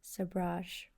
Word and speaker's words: sabrage: As you can see, I was unsure about this pronunciation and now know it is a French word pronounced sabrage.